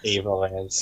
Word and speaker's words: Avalance: Avalance. Yeah. Avalance probably is how it should be pronounced.